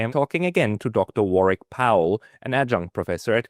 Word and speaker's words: Warwick: The English pronounce it with a silent W in the middle, and the Americans tend to pronounce the W explicitly, which of course is